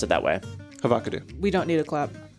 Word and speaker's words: Havocado: It's so weird that they pronounce it that way. Havocado.